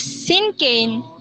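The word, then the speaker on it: cinquain: Sinkane is pronounced as Sinkane, is an easy-to-write poetry style as it has only 5 lines with few words in each line.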